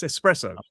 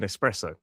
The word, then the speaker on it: espresso: Um, yes, but it's espresso and there's no X in espresso.